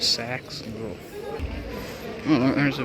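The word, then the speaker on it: CeX: Look, there's a CE X or a Sax as they call it in the ads. I think that's a great way to pronounce it. Sacks and little Oh, there's a big monument thing up there.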